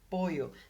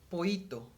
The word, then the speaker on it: pollo: with this is that people doesn't overpronounce them, so they just say pollo, pollo. Like if they were saying this, pollo, pollo, poito. And that's a Honduran thing, and that's not speaking proper Spanish, but I'm not expecting